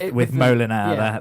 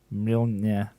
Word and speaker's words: Mjolnir: of Thor putting up my flat pack furniture with Molinar, the hammer. That's not even close to how you say it. Molinar. Mjolnir.